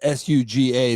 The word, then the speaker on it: Suga: The one's S U G- A. That's definitely Suga.